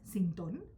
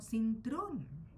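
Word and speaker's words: Cintrón: Tampoco se pronuncia así el apellido, falta una R. No es Sintón, sino Sintron.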